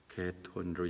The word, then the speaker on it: 아마겟돈: 아마겟돈은 하마겟돈으로 얘기한다. 하마겟돈. 근데 하란 말이 산이라는 의미거든요. 그런데 하가 이제 H가 묵음이니까 아마겟돈인데 그들이 히브리 얘기하는 무기또예요.